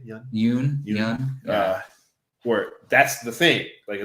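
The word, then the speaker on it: Yeun: Yoon.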